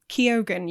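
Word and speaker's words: Keoghan: Peters as Warren lippica Barry Keogan kyogan Yeah question mark no that's well I looked it up that is apparently the correct way to pronounce it well we'll go with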